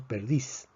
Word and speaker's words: perdiz: la escritura vemos que la palabra perdiz se escribe con zeta aunque se pronuncia como si fuera una s decimos perdiz sin embargo la regla